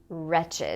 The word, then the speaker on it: wretched: the adjective has a different meaning and it's pronounced wretched my wretched life she's wretched and the last one is